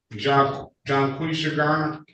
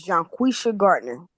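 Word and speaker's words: Jonquisha Gardner: Um, Garner John Qua Garner. Yes. If I got the pronunciation correct, I'm sorry if I didn't Miss John Quisha Gardner.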